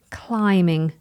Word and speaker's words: climbing: Climbing. Notice I don't pronounce the B.